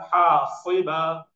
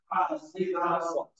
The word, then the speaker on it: حاصبا: أن يرسل عليكم حاصبا حاصبا حاصبا صبا حاصبا حاصبا Remember these seven letters, حروف المستعالية they are called. They are always pronounced with the base of the tongue elevated.